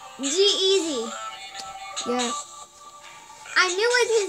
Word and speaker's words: G-Eazy: Can we pronounce it right? Jeezy. Jay-Z. Nope. I don't know how to pronounce it. Jeezy. Yeah. No, Jeezy. It's G-Eazy. G-Eazy.